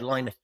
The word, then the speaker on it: Lynott: Don't get me started on Lynott, Philip Lynott, whichever way it's supposed to be pronounced. Although he said Lynott, and his mother told